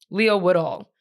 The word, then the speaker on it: Leo Woodall: Leo Woodhall? What's his name? Leo Woodall.